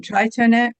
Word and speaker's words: trientine: And um trientine trientine trientine trientine Trientine.